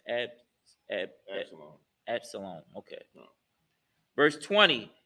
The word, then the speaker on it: Absalom: It's pronounced Absalom.